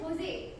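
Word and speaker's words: José: In Spanish, his name is pronounced as Jose.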